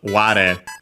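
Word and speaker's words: 我: The kanji on its own would usually be read as ware. Ware, accent on the first mora, is technically another first-person singular pronoun, I.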